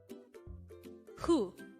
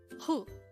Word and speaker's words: 후: Hu. Hu. This is pronounced as one syllable word. Pronounce it with me. Hu.